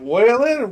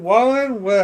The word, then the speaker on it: Wallen: Honestly, what Morgan Wallen's good, or is it Whalen? Wallen? How's it pronounced again, Bork?